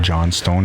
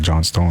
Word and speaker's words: Johnston: It was not Johnstone, it's Johnston. And I was wondering because I never really seen the name Johnstone before, right? So, and I pronounced it Johnston the first time, but then I was like Johnstone because I seen the E at the end.